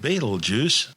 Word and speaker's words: Betelgeuse: unaided eye from earth commonly called beetlejuice don't say it three times its original name before centuries of tortured mispronunciations started out as it del yaza meaning the right hand of the big man in arabic the big man being